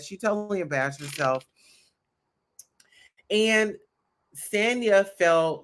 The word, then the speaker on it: Sanya: all these partnerships yeah stania ah yes racing's her name is sanya so i was saying it wrong so the olympic gold medalist her name is sanya so drew tried to